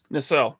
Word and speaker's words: Nacelle: But this was announced by Dave Bonner today with the I think it's pronounced Nacelle Company. Nacelle. Yep.